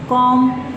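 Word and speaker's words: comb: अगर वर्ड के एंड में एम आ गया है तो बी साइलेंट हो जाएगा, जैसे क्लाइम, क्रम, डम, कॉम, ये बी साइलेंट है।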